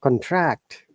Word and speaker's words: contract: contract is a noun but it is a verb we stress in the second but contract i i will have